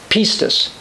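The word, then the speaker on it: πίστις: the new testament be pronounced something like pistes and i'm going to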